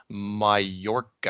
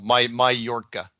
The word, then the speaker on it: Mallorca: Oh, by the way, I just got a message from somebody that said the island is pronounced Mallorca. Mallorca, that's it, yeah. Mallorca or Mallorca? No, Mallorca.